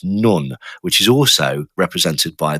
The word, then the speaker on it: Nun: The 14th Hebrew letter is apparently pronounced nun, which is also represented by the the symbology of a fish.